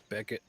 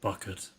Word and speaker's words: Buckett: what was it bucket Beckett welcome to take a play okay I know some people like to do a play on pronunciation sometimes no my name is uh quite literally bucket with two teeth all right well you